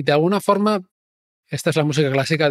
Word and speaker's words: Forth: en Inglaterra entonces Forth el nombre de la ría es f o r TH pero for pronunciado igual pero se añades una u después de la O significa cuarto Entonces ellos cambian cuarto